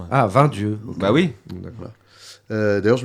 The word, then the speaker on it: Vingt Dieux: Vraiment, pour le coup, le film tire son titre d'une expression locale qui se prononce pas 20 dieux comme nous on aime le dire poliment, mais 20 dieux.